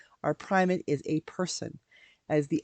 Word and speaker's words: primate: has a primate, and it's spelled Primate, and it is mispronounced all the time in church when we pray for the primate. Quite often they refer for the primate. No, our primate is not an ape, not a chimp.